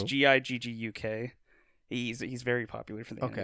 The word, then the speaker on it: Gigguk: And so one of the popular YouTube channels I follow, his name's Giguk. Probably pronouncing that wrong. It's Gigguk.